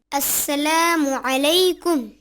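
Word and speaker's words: السلام عليكم: আসসালামু আলাইকুম আনাস। সালাম হবে আসসালামু আলাইকুম। ও আচ্ছা, আসসালামু আলাইকুম। হ্যাঁ, তুমি ঠিকই বলেছ। তবে সালামে আইনের উচ্চারণ সঠিক হওয়া চাই।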